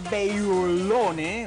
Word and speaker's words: Beyloune: está con nosotros Bailone, ¿ok? A ver, Rodolfo, Bailone. Bailone. Es fácil. Es como que tú estás diciendo en portugués Bailone. O sea, Bailone. Eso, Bailone. Así se pronuncia, sí.